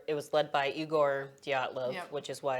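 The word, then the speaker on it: Dyatlov: to talk about is I think it's pronounced diatlov pass it's Russian and so this incident was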